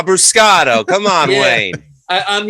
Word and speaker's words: Abruscato: Abuscato. Abuscato.